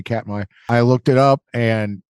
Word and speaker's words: Katmai: in Alaska, and I'm going to let you pronounce it for me. Yeah, it's Katmai.